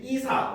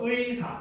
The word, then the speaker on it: 의사: 그다음 의가 제일 첫 번째 음절에 오는 의사 같은 단어도 역시 이사, 의사, 애사 이런 거 안 됩니다. 막 사투리 쓴다고 의사님 이런 거 하면 안 돼요. 그래서 정확하게 발음하면 의사 이렇게 발음해야 된다는 거죠.